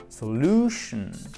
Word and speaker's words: solution: Vous savez que les mots qui se terminent en shun, vous avez l'accent tonique juste avant. Solution.